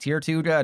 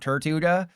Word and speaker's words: Tirtouga: Yeah, it cuz cuz you're a tier two sub and there's a Pokémon called Tirtouga and it's actually pronounced Tirtouga not Tirtouga like the thing from Oh crap.